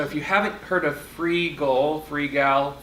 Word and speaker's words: Freegal: So if you haven't heard of Freegal, it's spelled like it sounds. You just don't know how to say it. F-R-E-E-G-A-L. Yes. It's can supposed to be frugal, like frugal.